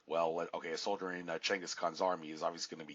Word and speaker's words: Genghis Khan: Yeah, it's pronounced Genghis Khan, not Genghis Khan.